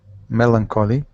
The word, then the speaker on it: melancholy: look at Melancholy Melancholy melancholy good good okay so that this has a two accents really so uh with the with the first accent here and then on colly so bada okay Melancholy